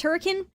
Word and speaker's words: Hurricane: I had mentioned oh yeah FNAF is in Hurricane Utah and she was like actually it's pronounced hurricane and I'm like excuse me why